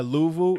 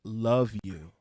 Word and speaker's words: Luvu: olbs so that guy louvo it's actually pronounced it's spelled luvu but the the the the actual pronunciation is love you it's like i'm playing